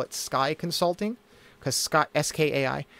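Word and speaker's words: Skai: the in the name it matches an existing word so people can pronounce it already and SK is the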